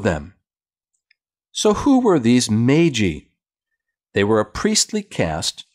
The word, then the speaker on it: Magi: up at their door the meiji sometimes pronounced magi these were not kings